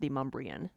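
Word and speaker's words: Demonbreun: It's like there's a road in Nashville that's called it's spelled Demon Ruin. That's how it's spelled, but it's pronounced Demumbrian because of it's a conglomeration of some of the original settlers of the area.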